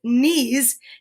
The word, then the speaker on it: knees: the same letter because as we know with nana's knees nana is n and these is k because it's silent right and we learn